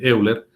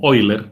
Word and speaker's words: Euler: procedimiento de eación de Euler bueno en creo que se lee como eiler pero es Euler digamos que se escribe y y totalmente vigente